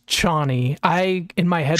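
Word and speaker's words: Chani: character chny is it chny or Johnny it's chny I in my head pronounced it as channy so every time they said it I was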